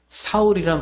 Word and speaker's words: 사울: 되었다 그런 뜻은 아니에요이 이름이 히브리 말로 부를 때 유대 사람들이 이름을 그 부를 때는 사울이라 발음으로 얘기하게 돼요 그런데이 사울이라 말을 헬라 말로 읽으면 바울이 되는 바울은이 유대 민족이 아닌